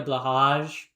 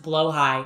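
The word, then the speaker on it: Blåhaj: great trans pilgrimage to IKEA and get a blahage? Epic vlog moment. Epic epic vlog. Um, would they spare trans people? Yes. Um, um, it's pronounced blowh high.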